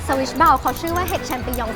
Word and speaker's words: champignon: ซื้อ ได้ ไม่ ยาก ออก เสียง ที่ ถูก ต้อง ออก เสียง ว่า ชปิยุง ชปิยุง พี่ พี่ น เป็น คน ฝรั่งเศส นะ ครับ ต่อ